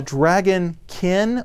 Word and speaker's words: Dragonkin: a trailer for four dragonkin am I saying it right you know the way it is it is a dragon kin or is it dragon can or what's the problem is dragon kin but some some diehard